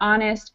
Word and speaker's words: honest: help history but this these last six words here are are the words that don't actually get an H pronunciation because sometimes we use H without pronunciation in English so that would be